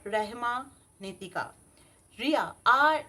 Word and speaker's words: Rahma: এরপর মনের ইচ্ছাটা বলার পর লিখে নিন রিয়া অ্যাসপেরা রেহমা নীতিকা।